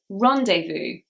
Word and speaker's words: rendezvous: Number 78 is rendezvous. Rendezvous. I'm quite sure that this is a French word because it's very sexy. Rendezvous. British pronunciation, however, probably doesn't make it as sexy, so it is rendezvous.